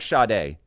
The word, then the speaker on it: Sade: of random letters that this is like shade s a d spells Sade you cannot just throw letters together and be like but it's actually pronounced like this that's crazy I will I will I will admit my first comment was wrong it does not sound how it's spelled okay see never let